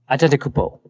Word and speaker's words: Antetokounmpo: Next question is from Hayden, who asks, hey, how do you guys pronounce Giannis Antetokounmpo? Antetokounmpo.